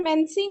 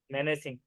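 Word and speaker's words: menacing: उसको कैसे पढ़ेंगे, प्रोनाउंसिएशन कैसे आ रहा है इसका? ए साइलेंट हो गया सर, मेंसिंग होगा हो। हाँ, नहीं, मेनेसिंग ही है ये भी, मेनेसिंग।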